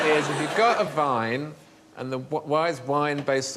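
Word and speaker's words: Wein: But the Germans say vine and spell it with a W.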